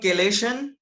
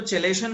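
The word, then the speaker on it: chelation: Fine, तो देखो this is called केलेशन। ठीक है, मैं इसको चेलेशन बोलता हूँ, मुझे इससे स्पेलिंग याद रहती है।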